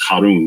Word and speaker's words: Harun: So this is Finhas, the son of Eleazar, and this is Harun. This is how you say Aaron or Aaron in Arabic.